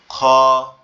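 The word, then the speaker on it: خ: আর এটা আপনার মনে হবে যে আওয়াজটা গালের মধ্যে থেকে আসতেছে। গলার ভিতর থেকে। খ খ এভাবে এরপরে যে অক্ষরটা আছে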